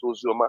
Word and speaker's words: Ozioma: And my own Ozioma has, that is how we pronounce Ozioma. Our own Ozioma is Ozioma.